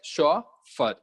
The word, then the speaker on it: chauffeur: the correct option here is software okay you pronounce it as show for okay so shofar is the private car driver